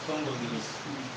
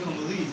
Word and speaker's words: Congolese: have to know that the pronunciation is not Congolese. Okay, you are Congolese, right? Thank you. Next time say Congolese. I'm Congolese by birth, right? Okay. That's great. You have to know how to stress.